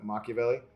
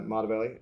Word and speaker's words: Machiavelli: modvelli which I heard Brian mispronounce last night because he doesn't get that you're referencing uh Machiavelli but uh Mata Valley uh well or maybe